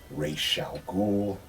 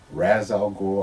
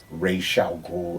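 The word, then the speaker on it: Ra's al Ghul: game figure from Arkham City now this is racial ghoul and do not get it twisted that is how you pronounce his name it is not Razz I'll go I do blame that on the Nolan Trilogy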